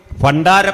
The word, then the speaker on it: ഭണ്ഡാരം: പണ്ടാരപ്പാട്ടവക എന്ന പദം തന്നെ ഉച്ചാരണ വൈകല്യമാണ്. ഭണ്ഡാരം എന്ന് പറയുന്നത് ഭണ്ഡാരം പായാണ്. ഉച്ചാരണ വൈകല്യം കൊണ്ട് പായായി.